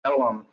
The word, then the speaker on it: Ellum: That was Elm Street, that's pronounced Ellum.